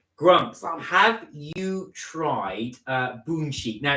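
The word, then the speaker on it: Bunsik: it's spelled bu NS i k we were pronouncing it bnip but it's actually apparently pronounced bonic so boic is a very famous Korean dog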